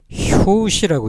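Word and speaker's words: 拍子: 가지고 이렇게 박제라고 쓰는데 이거를 발음할 때는 효시라고 있습니다 효시 효시 여기 박자입니다 우리가 박자를 맞춘다면 팀포를 맞춘다 이렇게 하죠 박쥐와 장단 효시라고 발음하죠 좀 특약 특이하게 발음이 됩니다 우리는 박수를 쳤습니다 손뼉을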